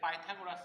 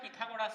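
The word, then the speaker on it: Pythagoras: এটাকে অনেকে উচ্চারণ করে পিথাগোরাস থিওরেম, তাতেও কোনো অসুবিধা নেই, আমাদের দেশের লোক নয় বলেই, আর এর উচ্চারণ বাইরের দেশে এরকম পাইথাগোরাসই হয়, সেই জন্যই উচ্চারণ করলাম। বাংলাতে পিথাগোরাসই বলে এবং তোরা উচ্চারণ করতেই পারিস পিথাগোরাস, অসুবিধা নেই।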